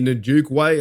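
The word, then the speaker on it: Onwukwe: You had here Tret Carpenter, Toby Nuke Way is how you pronounce that.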